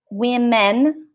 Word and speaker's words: women: And women, women, women, we. It's like we, women is plural.